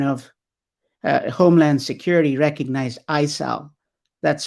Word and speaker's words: ISAO: is a department of uh homeland security recognized isal that's spelled isao standing for information sharing analysis organization